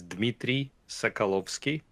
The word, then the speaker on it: Dmitriy Sokolovskiy: uh my name is Dimitri Sakowski pronounce it the way it's spelled um senior vice president